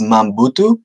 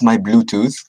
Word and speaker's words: Mahm Butu: know your name yeah my name is mom boo - no mom boo - not my bluetooth mom boo - do you want